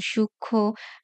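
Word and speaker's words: সূক্ষ্ম: সাথে যখন ম ফলে যুক্ত হবে তখন তার উচ্চারণ হবে না যেমন সূক্ষ লক্ষণ যক্ষা লক্ষী এরকম পাঁচ নাম্বার নিয়মটা হচ্ছে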